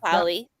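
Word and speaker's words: Polley: And how do you say it's Polly? Is that how you say her? Sarah Polly. Sarah Py. Yeah, Polly.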